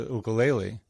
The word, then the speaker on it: ukulele: Or even more recently, I started playing the ukulele. I use the Hawaiian pronunciation for those of you that think I'm saying it weird.